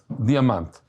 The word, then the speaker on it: Diamant: So he said, Diamant.